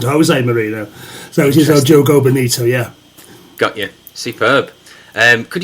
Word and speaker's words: O Jogo Bonito: It's not like in Spain it would be Jogo, but in Portuguese you pronounce the J as in like Jose Mourinho isn't Jose Mourinho, so it is O Jogo Bonito.